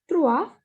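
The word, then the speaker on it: trois: is at the end so will not pronounce this s this is trua is three next is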